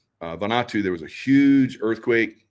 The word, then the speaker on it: Vanuatu: I believe it's pronounced Vanuatu. Vanuatu, there was a huge earthquake, or not earthquake, but a volcano that blew massive.